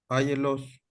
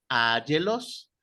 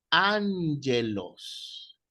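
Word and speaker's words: ἄγγελος: Áyelos. Ángelos. Hay una regla que indica, que veremos cuando entremos a gramática, que la doble repetición de gamma pronuncia una N. Entonces es ángelos.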